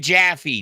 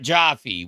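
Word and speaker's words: Jaffe: It's David Jaffy, not Joffy.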